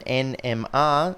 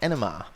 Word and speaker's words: NMR: refer to it as rather than nmr just sort of one syllable as nmr i've got a lot